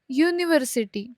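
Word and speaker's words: university: Vowel से हुई है, बट इवन दो इन जो शब्द है इनकी शुरुआत वावल से हुई है, बट इनका जो प्रोनाउंसिएशन आता है, मतलब जो साउंड है इनका, वो कॉन्सोनेंट साउंड ही है.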